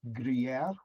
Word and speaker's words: Gruyère: It's a French word, so it's Gruyère.